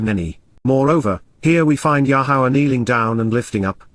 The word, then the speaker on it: Yahowah: this is completely reliable yahawah yahwah the proper pronunciation of yahovah our eloa God has